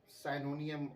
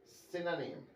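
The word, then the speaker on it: synonym: जो सही प्रोनाउंसिएशन है साइनोनियम की वो है सिनोनिम, और एंटोनियम की एंटोनिम। जी, साइनोनियम नहीं सिनोनिम, और एंटोनियम नहीं, ये होगा एंटोनिम्स।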